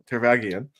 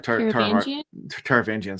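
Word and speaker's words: Taravangian: Um, she's talking to a man who Shalon identifies later as as king uh Tarvagian um sorry Tarvangian.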